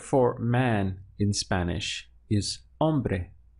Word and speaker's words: hombre: man in Spanish is hombre spelled H om b r e but of course we ignore the H in our pronunciation and we start from